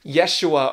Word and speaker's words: Yeshua: child jesus you see jesus which would have been pronounced yeshua or yahushua in hebrew means salvation or to rescue